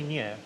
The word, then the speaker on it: Neoh: Tony Neo. Neo is a Hong Kong pronunciation.